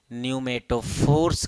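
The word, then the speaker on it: pneumatophores: हैं क्या कहते हैं neumato फोर्स कहते हैं यहां पीस साइलेंट है इसलिए न्यू मेट्रो फोर्स कहा जाता है माइक्रो प्रजातियां के उन्नाव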